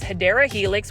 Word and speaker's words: Hedera helix: Hydra Helix. Or however you want to say, the correct way to say it is Hedera Helix, which is the English ivy, $4.98.